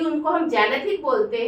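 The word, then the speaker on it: xanthic: हैं light yellow colour लेकिन उसका सही प्रोनंसिएशन सही इंग्लिश होती है जेनेथ मतलब हल्के पीले रंग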